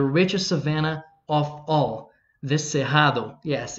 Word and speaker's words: Cerrado: savannah of all the sejado yes it's pronounced sejado even with both ours well uh you can